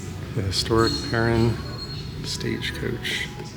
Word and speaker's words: Perrine: Parin So, she pronounced it parin. So, that would answer the question about how to pronounce the bridge and stuff.